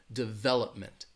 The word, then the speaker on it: development: these words in there the the stress is going to be on that second syllable development development and that third syllable has that schwa that development development development Abu Abu